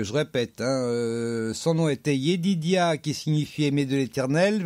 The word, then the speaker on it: Yedidia: Alors, son nom était Yedidia.